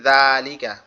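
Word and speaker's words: ذال: জালটা উচ্চারণ হবে আমাদের জিহ্বার আগা, সামনের দুই দাঁতের আগার সঙ্গে লাগবে।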